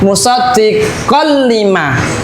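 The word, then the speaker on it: مُصَدِّقًا لِّمَا: Huruf qaf di sini harokatnya adalah fathah tanwin bertemu dengan huruf lam ya, bertemu dengan huruf lam, maka dia bacanya musaddiqal lima. Jadi lamnya ini seolah-olah ada tasdidnya ya.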